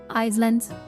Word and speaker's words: Isel: no by the way Isel is pronounced like the S of islands kokona Isel Islands Islands isn't it